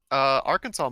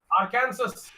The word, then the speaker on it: Arkansas: Arkansas might have the dumbest one I've looked at tonight. You must pronounce the state's name correctly. Arkansas.